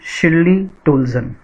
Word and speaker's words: Shirley Toulson: your book Hornbill, and this is composed by Shirley Toulson. This is the name of the poet, and the correct pronunciation is, I repeat, Shirley Toulson.